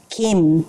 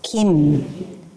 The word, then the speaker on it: Kim: Kim is actually pronounced Kim can you guys say it Kim so it's like the soft k sound Lee is actually pronounced